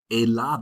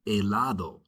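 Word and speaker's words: helado: Eladd. Remember the h is silent. Eladd.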